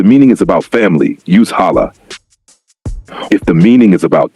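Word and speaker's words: hâlâ: It is pronounced as ha la longer a sound stretched a little.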